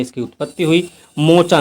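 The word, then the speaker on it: Mocha: मोचा नाम दिया था यमन ने और इसका उच्चारण किया गया मोखा।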